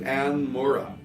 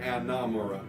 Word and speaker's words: Anne Mora: Her name is Anne Mora, but because it has a better cadence, I tend to say Anna Mora.